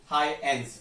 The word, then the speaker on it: Huygens: You can pronounce it as a Huygens. The G is silent over there, right?